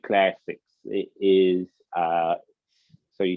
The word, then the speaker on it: Classix: okay, that would be on Click Classics. It is, so you spell it CILQUE, Click, and then Classics is CLASSIX. S.